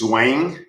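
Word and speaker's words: Zhuang Zhou: I looked it up, and the pronunciation is Zhuangzhou.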